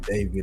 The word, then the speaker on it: D4VD: Yeah, this this is uh this is a sad situation, man, with this guy David D4 BD pronounced David.